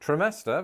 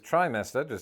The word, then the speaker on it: trimester: Other examples include hibiscus versus hibiscus, privacy versus privacy, simultaneous versus simultaneous, trimester versus trimester, to stick to the theme of procreation, and vitamin versus vitamin.